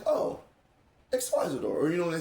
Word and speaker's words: Xyzidor: hard for me to pronounce, sorry. It's okay. It's Xyzidor, that's right.